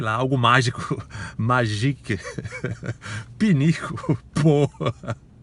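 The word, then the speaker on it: pot: Eu disse: pô, pinico é pô, P-O-T, a gente pronuncia pô.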